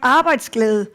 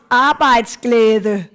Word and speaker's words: arbejdsglæde: And to help you pronounce it, you can see here, it's almost like this, arbejdsglæde.